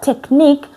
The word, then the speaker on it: technique: We hear C at the end.